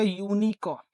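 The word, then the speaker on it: unicorn: बट जब आप इसकी प्रोनाउंसिएशन करोगे तो ये आएगा यूनिकॉर्न। ठीक है?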